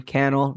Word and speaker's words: Cannell: So this was Cannell, rhymes with YouTube channel and Strategy Foo.